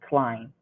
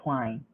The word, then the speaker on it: climb: but climb climb okay b is not pronounced okay so we say climb climb repeat after me climb good okay so climbing